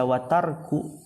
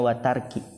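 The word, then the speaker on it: وَتَرْكِ: Ini bisa dibaca watarku, berarti dia ataf ke amrun. Bisa juga watarki, ataf ke ibadati. Tapi kalau artinya yang lebih jelas, itu lebih enak diatofkan ke ibadati, jadi dibacanya watarki.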